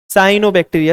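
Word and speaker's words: cyanobacteria: साइनोबैक्टीरिया, सियानो मत बोल देना, कुछ लोग बोल देते हैं प्रोनाउंसिएशन सियानो, दे आर नॉट सियाने, ठीक है।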